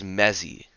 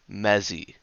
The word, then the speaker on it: Mezzy: This card's name is Mezzy. There's no other correct pronunciation. There's no other way of doing it. It's just Mezzy.